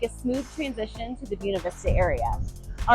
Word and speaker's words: Buena Vista: pronunciation I have a video about why locals pronounce what looks to read wav Vista as buav Vista Colorado and how you can also just say